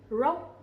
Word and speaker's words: rock: And in Vietnamese we say rock. Rock. Okay? The R sound, we will not pronounce it too strongly, but instead we pronounce similar to English.